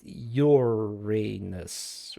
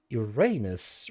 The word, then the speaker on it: Uranus: The pronuncuation of the name Uranus Uranus preferred among astronomers is Uranus with long U of English and stress on the first syllable as the Latin Uranus. Contras to Uranus with stress on the